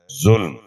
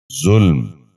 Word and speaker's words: ظلم: غور سے سنیے، ظرف۔ ساتواں لفظ ہے ظلم۔ یہ غلط تلفظ ہے، درست تلفظ ہے ظلم۔ دوبارہ سنیے، ظلم۔ بچوں آپ بھی غور سے سنیے، ظلم۔ آٹھواں لفظ ہے